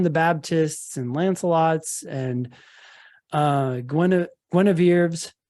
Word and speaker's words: Guinevere: Jesuses and John the Baptists and Lancelots and Guinevere's.